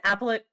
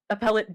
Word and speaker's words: appellate: A retired appellate, I think I put the emphasis on the wrong syllable. Okay. A retired appellate judge and law professor,